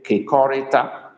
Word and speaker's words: kekorita: But if it is to be used for share together, we pronounce it differently a little bit. We say kekorita.